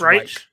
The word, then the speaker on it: Reich: It's Reich.